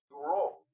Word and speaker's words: Bureau: Y déjame comentarte, Domingo Buró, el apellido se escribe Bureau, que en francés se pronuncia Bureau.